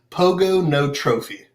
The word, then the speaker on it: Pogonotrophy: it is pogonotrophy and the easiest way to nail it every time is pogo no trophy pogo it's kind of like hippopotamus it's hip hop a thomas that's how he'd remember how to spell it thomas okay hip hop thomas where on earth did